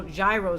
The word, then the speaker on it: Gyro: I say gyro because that's based on rotation of the balls and makes sense, unlike Euro.